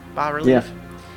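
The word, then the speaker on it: bas-relief: Yeah, the S is silent in power relief.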